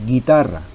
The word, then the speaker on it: guitarra: no estuviera la u nosotros pronunciamos guitarra que es como si no estuviera la u en esos casos a